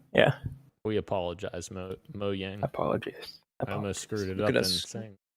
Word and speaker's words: Mojang: how to pron because I thought it was moyang I think you're right I think I missed pronounce it just now mang moang moang moang moang okay yeah gotcha I just always say Mojang because it has a j but you're right it is moang yeah we apologize MO